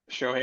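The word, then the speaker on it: Shohei: now with the exception of Mr two-way shohai show hey Otani so hey I always say his name wrong that's why I just say Showtime even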